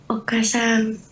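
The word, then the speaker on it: お母さん: Okasang. Okasang. Oh, okasang. Jadi kayak kan A-nya double nih. Jadi A-nya dipanjangin saja.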